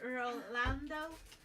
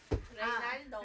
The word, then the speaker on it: Ronaldo: I was so close to also getting Rolando. Ronaldo. Ronaldo. I always say it wrong.